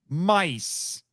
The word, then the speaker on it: Myth: And I'm a tiny bit confused because it's spelled MY-TH, but it's apparently pronounced mice. Yeah. What? Yeah. That's how it's pronounced.